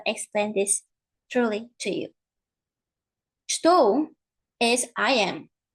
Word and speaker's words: estou: Maybe you expect to hear something like estou. If we actually say this way, estou, we would be pronouncing and saying clearly, well, enunciating every single sound. Estou. Right? But in real life, this is not what happens.